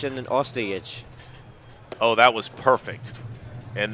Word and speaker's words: Ostojic: Why don't you give us the correct pronunciation of their last names there, Oliver? I think it's Gregurovic and then Ostojic.